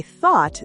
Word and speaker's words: though: For example, though has a long o sound.